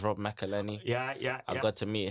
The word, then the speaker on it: Rob McElhenney: So but I got to meet I never know how to pronounce it. I think it's Rob McElhenney.